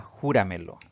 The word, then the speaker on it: júramelo: La palabra júramelo. Esta palabra tiene también 4 sílabas, contando siempre de derecha a izquierda. Por lo tanto, es una palabra sobreesdrújula y va a llevar tilde siempre, sin importar su terminación.